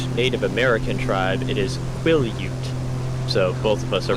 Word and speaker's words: Quillayute: So like first syllable is quill.